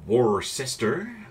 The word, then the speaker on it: Worcester: The Worcester. Or the Worcester, I guess. With an American pronunciation.